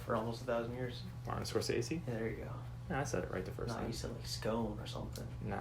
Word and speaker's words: Scorsese: Martin Scorsese?